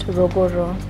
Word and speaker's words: Ruguru: So it's spelled Ruguru, but it's pronounced Ruguru.